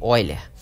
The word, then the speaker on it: Euler: Que se escreve Euler, né? Se lê Euler, que é dado por